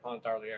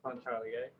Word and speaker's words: Pontarlier: See, I said it wrong. right. I've said it wrong like 9,000 times because I tell everybody Pontarlier. It's Pontarlier. So do you have plans to bring in other absinthes as well?